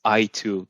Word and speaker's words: Aytug: and i'm telling them the easiest way to pronounce my name is i2 the letter i and the number two okay uh i i